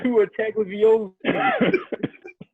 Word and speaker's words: Tagovailoa: Hey, at least he pronounced Tua name right. Jose. Tua Tagovailoa.